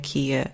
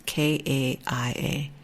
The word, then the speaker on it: Kaia: The other one that kind of really piqued my curiosity was Kia. I may be saying it wrong. It's Kaia. And this uses AI to provide personalized exercise and guidance for individuals with chronic pain.